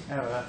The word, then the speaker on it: era: Well, as you probably realise, my title, The End of an Era, is a bit of a joke because Americans pronounce era as error.